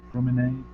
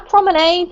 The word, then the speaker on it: promenade: Yeah, Amy, what is promenade? A promenade, or you can say promenade.